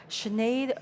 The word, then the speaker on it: Sinead: So my name is Sinead. It's not Sinead O'Connor, but I'm grateful for her because it makes my name pronounceable.